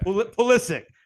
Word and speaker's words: Pulisic: Is it Pulisic? Is that how you pronounce it? Yeah. Okay. Pulisic.